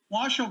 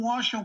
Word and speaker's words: Washoe: in clark county which is las vegas and washoe county which uh you pronounced perfectly uh is is northern nevada with